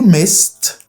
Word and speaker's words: missed: You missed, probably it is pronounced like a t sound.